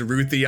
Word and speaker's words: Ruthie: was reading the comic, I always pronounced it as Ruth. I I don't know why it was just written like that, so I just thought that's how they pronounced it. So when I first heard in the trailer, they were like, "Oh, it's Ruthie."